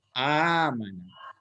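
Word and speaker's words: أمانة: Amana. Hah? Nah, jadi ya kalau salah pun nggak apa-apa. Yang benarnya hanya itu salahnya sebenarnya dia 4 huruf ini. Jadi panjangkan A-nya itu amanah.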